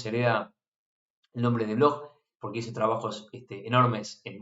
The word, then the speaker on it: Bloch: Es la esfera de Bloch, o Bloch se escribe, ¿no?